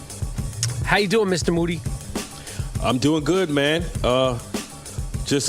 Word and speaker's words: Moody: moody last name rhymes with duty G mo a GeoNet